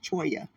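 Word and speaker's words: Cholla: to say ch cha c h o l l a is choya okay guys so there's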